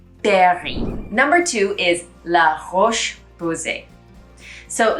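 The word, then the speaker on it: La Roche-Posay: for the brand l berry number two is la roche posie so la roche posay is a lesser known brand of some americans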